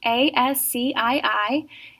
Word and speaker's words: ASCII: And then the other word is ASCII, A-S-C-I-I. It is actually an abbreviation, but we pronounce it ASCII for short.